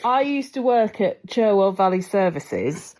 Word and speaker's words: Cherwell: I used to work at Cherwell Valley Services, and that's how I pronounce it, but I think it's technically Charwell.